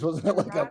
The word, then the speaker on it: Sriracha: Chirac.